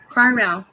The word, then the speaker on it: caramel: I refuse to say it that way. Caramel. How do you say it, Rachel? Carmel. Caramel.